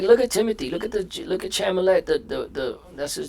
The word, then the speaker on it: Chalamet: Look at Chalamet. The that's his name. That's how you pronounce it.